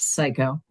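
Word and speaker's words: Siko: and that that was his name, but it was spelled s I ko, pronounced psycho.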